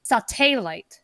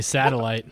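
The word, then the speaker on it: Satelight: I'm sorry not state sauté light so how you say their name I always say satellite but well to be fair it's not spelled like satellite like Li te instead of Li gh T so I've made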